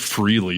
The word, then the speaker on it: Frehley: You think he can name one song, let alone know how to pronounce Ace Frehley correctly, as if Freely is some, exotic word or something.